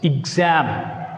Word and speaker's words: exam: Exam. Very important. You should put stress on X, not E.